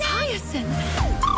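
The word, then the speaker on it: Hyacine: It's hyasin. Okay. Hi is how you pronounce it.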